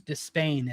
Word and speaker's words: Despain: Rababios Despain is how you pronounce it.